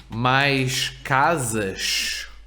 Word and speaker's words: casas: Mais casas. mais casas. Right? The first S is between vowels. Z. The second is at the end of a syllable.